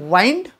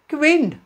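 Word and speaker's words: wind: डब्ल्यू आय एन डी सो बरीच जण वाईंड विंड तुम्हाला काय वाटतं येस वाऱ्याला म्हटलं जातं विंड मग तुम्ही म्हणणार वाईंड चुकीचं आहे का तर नाही डब्ल्यू आय एन डी ला वाईंड पण म्हटलं जातं पण वाईंड म्हणजे गुंडाळणे ओके आपण ज्याला वाईडिंग म्हणतो त्याची स्पेलिंग सुद्धा हीच आहे पण जेव्हा तुम्ही तो शब्द वारा म्हणून घेताय तुम्ही त्याला विंड म्हणा वाईंड म्हणू नका सो बऱ्याच वेळा काय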